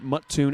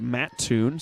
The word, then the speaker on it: Mattoon: good friends morgan that it is not muttoon it is mattoon so i'll do my